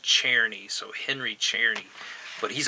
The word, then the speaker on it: Czerny: But his name is Henry, and it's spelled Czerny, but it's pronounced Czerny, so Henry Czerny.